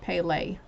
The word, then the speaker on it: Pele: get energized okay so it tells me how it's pronounced pele she's the passionate goddess